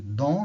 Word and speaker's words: don't: Você vai dizer don't, né? Esquece o T aqui, fala don't they go to the beach.